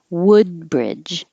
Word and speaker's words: Woodbridge: Woodbridge. The wood is like took. So don't round your lips too much or it'll sound like wood.